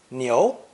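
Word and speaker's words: 牛: character for ox cow and it's meat beef pronounced second tone neo neo i have two example sentences some people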